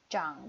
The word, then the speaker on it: 长: " 好看 ," 非常好看，长得很好看。Ini dibacanya " 长 "。Cang de hen hao kan.